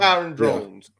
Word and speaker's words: Kyron Drones: Yeah, he said it's pronounced like like Byron. Byron. Kir Kiren Drones. Kyron Drones.